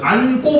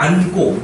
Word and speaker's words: 안고: 안고 봐봐. 안고. 니은 지읒이죠. 네. 동사고 어간이 니은 지읒으로 끝나는데 뒤에 기역 고가 오니까 어때요? 꼬로 발음되죠. 그러니까 이런 경우도 된 소리 대기가 된다더라 라는 겁니다.